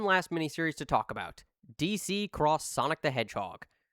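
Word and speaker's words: DC X Sonic the Hedgehog: DC Cross Sonic the Hedgehog. Yes, the X is pronounced as cross.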